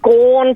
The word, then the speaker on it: gone: shops and they haven't gone to the post office they've gone to the post office or they've gone to the shop gone does not rhyme with porn find a little something